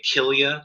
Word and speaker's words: Kilia: historian of ancient art they'll call it a kilia type figure and that's spelled k-i-l-i-a and that's really just named after